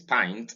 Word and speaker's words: pint: in nine in wine in pint this is pint and not pink you are likely to pronounce this as paint if you are looking at the alphabetic spelling